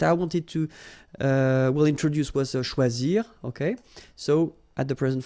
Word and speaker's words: choisis: Okay, same rule, you don't pronounce them. So phonetically, you will have choisi, choisi, choisi, choisi, choisi, choisi, choisi, and choisi.